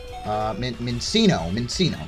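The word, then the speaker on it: Minccino: How do you even pronounce this one? Mincino.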